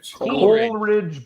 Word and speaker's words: Coleridge: but his name is Coleridge Bernard Stroud IV wait it's not like porridge you said it first Coral Ridge Bernard Stroud IV he got